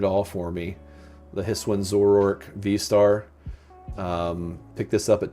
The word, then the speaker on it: Zoroark: So I would definitely say Zoroark. Is that how you say it? It's Zoroark is how it...